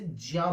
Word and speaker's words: ज्ञ: आधा ज और पूरा ज्ञा से मिलाकर ये, इसे ज्या बोलते हैं।